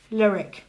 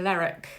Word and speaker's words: Lerwick: I would say, but you pronounce it Lerwick. Well, the locals tend to pronounce it in different ways, but some of them say Lerwick. Lerwick. If you listen to the drama that's Shetland, they do pronounce it Lerwick, I think, sometimes.